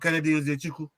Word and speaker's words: Nzechukwu: What, Kennedy Nzechukwu?